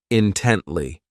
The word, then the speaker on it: intently: ridiculous next is intently this adverb has three syllables and the stress is on that second syllable intently so this word means that